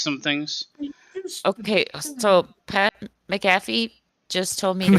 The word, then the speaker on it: McAfee: say this guy's name Mac uh fee McAfee oh my God oh my God like like the Internet Security people no no you're right just believe in yourself foreign I love the